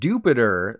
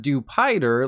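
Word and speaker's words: Dewpider: few rapid fire pronunciations the pre-evolved form of arachmonid is called Jupiter not dupider like a hamburger slider because things like words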